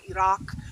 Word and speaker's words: Iraq: I would never go to Iran or Iraq, which is how you're actually supposed to pronounce those things.